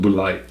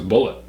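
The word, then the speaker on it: Bulleit: That's how somebody corrected me and said it's pronounced. Really? Because it's French. Ah. I've told you that. I know. But I don't think it's Boulite. I think it's Bullet. I like Bullet. Bullet sounds tough.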